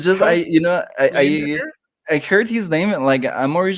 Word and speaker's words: Leyendecker: But for me, I choose to say Leyendecker. Lion. Yeah, like it's almost like it like line, like just like a single line.